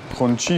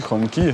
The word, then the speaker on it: Hongqi: and nice</i> <i>cars like this one – </i> <i>pronounced "Hong-chee" or "Hong-kee", </i> <i>or some other way people come up